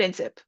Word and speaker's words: NCCP: And we call it INSIP.